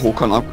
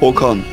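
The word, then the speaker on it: Håkan: Es wird ja Hokan ausgesprochen. In dem Fall, glaube ich. Hokan. Okay. Das A mit einem Kringel drüber wird als O ausgesprochen, wenn ich mich so, alles täusche.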